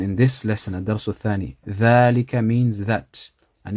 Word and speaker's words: ذلك: And ذلك, the alif after the dal, is pronounced but not written also.